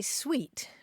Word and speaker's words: suite: suit and sweet um both of those terms are applied to a set of bedroom furniture and particularly in the South you'll see suit s UI t uh applied to that and uh both it's